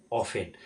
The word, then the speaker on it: often: OFTEN এটাকে উচ্চারণ করতে হচ্ছে অফেন।